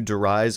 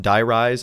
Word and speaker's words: Die Rise: have tried to do derise on my own die rise i keep pronouncing it wrong sorry i'm stuck in